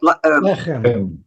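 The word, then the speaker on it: לחם: Okay, so where it says is broit, and it's how do you pronounce that? Lechem. Lechem.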